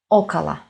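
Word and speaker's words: около: first one is okay the first syllable is stressed and we pronounce o and two La syllables are obviously not stressed and we pronounce Okala Okala DOMA foreign it also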